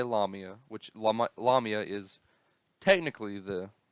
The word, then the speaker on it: Lamia: lamiya some people say la mia which llama la mia is technically the correct way to say it but I said mark lomita I've said this in previous videos mark lumia